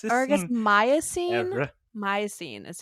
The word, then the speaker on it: Miocene: Miocene is how you pronounce it.